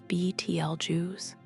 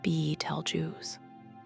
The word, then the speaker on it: Betelgeuse: Pronounced depending on whom you ask, as BTL Jews, B tell Jews, or as most people outside of professional astronomy say it, Beetlejuice. A pronunciation made famous by the 1988 Tim Burton film of the same name.